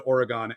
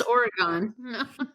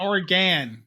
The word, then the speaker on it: Oregon: you prefer to pronounce Oregon oh perfect I nailed it how do you it's not Oregan not or right okay just checking got